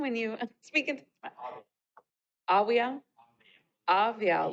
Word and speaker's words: Awiao: Awiao, like a V.